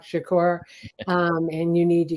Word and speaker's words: Shakur: the name of Tupac Shaker he couldn't even pronounce his name um Tupac Shakur um and you need